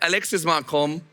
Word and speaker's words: Alexis Marcombe: Next to her, we have Alexis Marcombe. Did I pronounce that well, more or less?